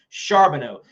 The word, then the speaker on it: Charbonneau: nhra camping world tour is this man charbonneau yes that's how you pronounce his last name charbonneau he hails out of the northeast and he